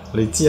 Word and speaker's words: 累计: 没有啊，累计啊，计算的计啊。